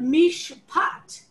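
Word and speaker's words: מִשְׁפָּט: the same shoresh but because it's not following an open syllable and it's at the beginning of a syllable itself the pay in mish pot is a pay not a fae but here it's a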